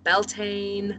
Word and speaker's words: Bealtaine: this word, is because Bealtaine in Irish actually is the month of May. But in the States and other places, they say Beltane or Beltane.